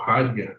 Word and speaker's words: Heidegger: Acho que muitos já ouviram falar em Heidegger, né? Ou Heidegger, como alguns falam, que é a pronúncia correta, alemã.